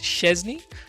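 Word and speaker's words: Szczęsny: If I'm saying it Szczesny, is how you pronounce it.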